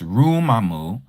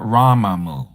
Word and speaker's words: Rumamu: It's Rumamu, not Ramamu, okay?